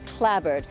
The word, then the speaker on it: clapboard: Sandwich here has got the church, these houses which are clapboard but here its always pronounced clabbord and its this sort of thing which gives the Cape so much character.